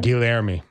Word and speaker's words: Guilherme: Gustavo and Guilherme? Guilherme. Guilherme. Okay. Do Portuguese pronunciation is a whole other word.